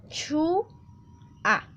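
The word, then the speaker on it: 좋아: Esta palabrita entonces que vemos en pantalla se va a pronunciar chu-a. Este hiot va a desaparecer debido a que, pues por facilidad de la pronunciación, se va a dejar de esa forma.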